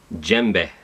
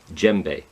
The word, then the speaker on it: djembe: So you gotta get a little bit of the D in there if you really want to pronounce it right.